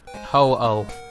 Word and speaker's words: Ho-Oh: Well, how do you pronounce it? Ho-Oh.